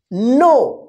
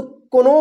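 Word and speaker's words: know: नो देखिए यहां पे के एन ओ डब्लू इसको कोनो मत नो देखिए एन के पहले यानी के के बाद क्या है एन है ना या एन से पहले या के के बाद एन रहता है तो क्या होगा के साइलेंट रहेगा इसको क्या पढ़ेंगे नो कोनो नहीं पढ़िए ठीक है ना नो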